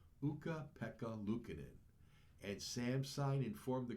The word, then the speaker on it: Ukko-Pekka Luukkonen: Alana made a sign for her favorite player, whose name she proudly and correctly pronounces Ukko-Pekka Luukkonen.